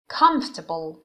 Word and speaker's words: comfortable: Number one, comfortable. استرس روی سیلاب اوله. Comfort.